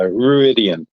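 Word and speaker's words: Rhuidean: The the three rings are in uh Ruodine or Ruan, however they say it. Uh Ruidian is how they say it on here.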